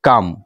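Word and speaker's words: calm: চার নাম্বার আছে হচ্ছে কাম। এর সমার্থক শব্দ। এখানে এল আছে ঠিকই কিন্তু এল এর উচ্চারণটা করা যাবে না। এটার উচ্চারণ হচ্ছে কাম।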